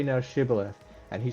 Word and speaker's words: Shibboleth: In this case, the Ephemerites' inability to pronounce the sh sound of Shibboleth because of the way that their language worked, meant that they were then identifiable to the Gileadites.